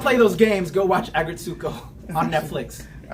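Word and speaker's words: Aggretsuko: I think it's Agretsuko. Agretsuko, I think so.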